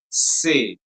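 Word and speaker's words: ces: And the last one will be pronounced as say.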